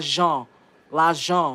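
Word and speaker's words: lajan: That's how you say it in Creole, guys. Say it with me. Lon. Ljon. Money.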